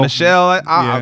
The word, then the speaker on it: Michel: Tony Michelle how do you say that Michelle Michelle I've been say Michelle yes when Michelle dearies